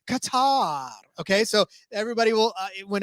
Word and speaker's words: Qatar: afterwards, because it's a lot harder to say Qatar every single time.